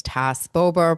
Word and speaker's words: Tas Bober: For those that do not know me, my name is Tas Bober, pronounced like SAS Sober.